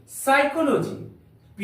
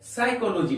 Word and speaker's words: psychology: जैसे PSYCHOLOGY, इसको हम लोग साइकोलॉजी नहीं पढ़ेंगे, साइकोलॉजी। यहां पर पी साइलेंट, पी का प्रयोग एस के पहले हुआ है, इसलिए इस पी का उच्चारण नहीं करेंगे, साइकोलॉजी पढ़ेंगे।